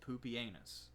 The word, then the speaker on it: Pupienus: Yes, that is how you pronounce his name. If you know Latin, that says Pupienus.